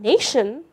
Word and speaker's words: nation: In women, strangely, the O actually stands for the sound E, and in nation, the TI stands for sh.